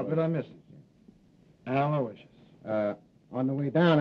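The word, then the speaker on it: Aloysius: I guess you deserve a break yeah you spell that mle name right it's a l o y s i u s aloicious sure how good I miss it aloicious uh on the way down I picked up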